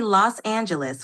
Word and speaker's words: Los Angeles: For Los Angeles, try to say Los Angeles with a soft G sound.